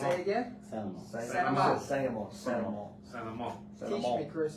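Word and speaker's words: St. Amant: You don't even pronounce the T. Don't Don't pronounce Santa it. Mont. Santa Mont. Santa Mont. Santa Mont. Santa Mont.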